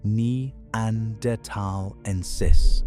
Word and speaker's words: neanderthalensis: Neanderthal, properly Homo neanderthalensis, pronounced nee-ander-tal-en-sis, emerged from a population that left Africa long before our species did.